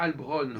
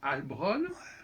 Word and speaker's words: Heilbronn: Et donc, on a écrit Heilbronn parce que ça se prononce Heilbronn.